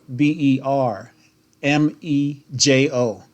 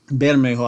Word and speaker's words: Bermejo: bermejo and libra major you spell it b or b e r m e j o bermejo better mayhew i should say maybe that's probably the more connect uh more correct enunciation and so um what's